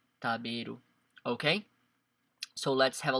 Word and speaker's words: 食べる: But in this case, if you see the kanji with the hiragana beru, you know that we're gonna pronounce it as taberu.